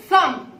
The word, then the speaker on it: thumb: Thumb. And B is silent.